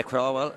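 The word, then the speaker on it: Craughwell: How do you say that? Crowell? Yeah, Crowell.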